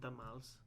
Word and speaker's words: tamal: There was always red chili and tamales, or tamales, depending on how you say it. But well, the correct way is tamal, right? Well, if you want one, it's a tamal.